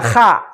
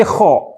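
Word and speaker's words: خ: Tidak dibaca kha, tetapi kho. Pengecualian. Fathah untuk huruf kho dibaca kho, bulat O. kho.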